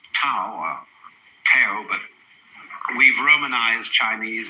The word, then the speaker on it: Tao: it's called Daoism this character in Chinese is pronounced da Tao you would think it was pronounced TA or to but we've romanized Chinese in such a